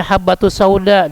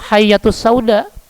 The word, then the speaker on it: habbatus sauda: ular karena salah baca harusnya ba titik satu dibaca Iya titik dua ini kan bahaya gitu ya